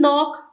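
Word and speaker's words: knock: की जाती for example H in honest जैसे कि ऑनेस्ट में एच साइलेंट है डब्लू इन रैप जैसे कि रैप में डब्लू साइलेंट है के इन नॉक नॉक में के साइलेंट है व पुट द आर्टिकल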